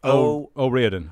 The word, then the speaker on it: O'Riordan: O'Riordan.